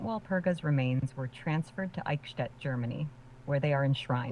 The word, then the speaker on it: Eichstätt: It's pronounced Eichstätt, with the ch sound similar to the ch in the Scottish word loch.